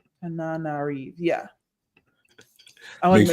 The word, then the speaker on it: Tananarive: This is Tananarive. Tananarive, yeah. I want to make sure you get the pronunciation down.